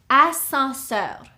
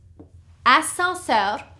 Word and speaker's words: ascenseur: The second one is ascenseur. This is an elevator. Ascenseur, okay? Here we have 1, 2, 3, 4 syllables. Escalier. The second word, ascenseur. 3 syllables. Ascenseur.